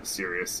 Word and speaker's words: Sirius: Yeah, Sirius, yeah. Like Sirius Black from Harry Potter.